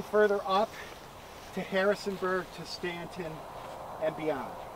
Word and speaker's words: Staunton: and what looks like new Staunton is Stanton what looks like my